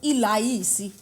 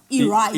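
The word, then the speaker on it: ilayisi: So something like rice, we would call ilaisi. Ilaisi. Instead of iraisi.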